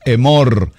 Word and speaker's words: Emor: Escríbalo así como se pronuncia, Emor. Emor, que nos traduce la palabra diles.